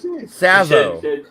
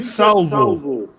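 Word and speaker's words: Savile: Savo. You said Salvo. Savo.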